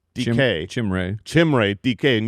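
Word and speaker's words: Dike: And if you're, if you're looking for his name on the platform and it's difficult to find because his name is pronounced DK.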